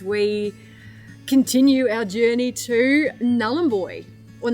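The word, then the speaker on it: Nhulunbuy: I did ask Kier and um I said, "So, how do you pronounce it? Null boy or Nully?" She said, "Namboy, but it's highly contested."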